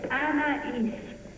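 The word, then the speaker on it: Anaïs: (Anais) Voy a pronunciar mi primer nombre tres veces. A la edad de 63 años, Anais Nin finalmente se había convertido en una escritora famosa. Es Anais, Anais, Anais.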